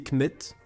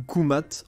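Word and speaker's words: Kmt: Cela signifierait quelque chose comme terre noire, probablement en référence au sol noir fertile autour du Nil, prononcé Kmet ou Koumat en égyptien ancien.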